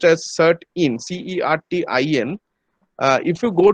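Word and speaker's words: CERT-In: indian computer response emergency response team but it's pronounced as cert in c-e-r-t-i-n uh if you go to their website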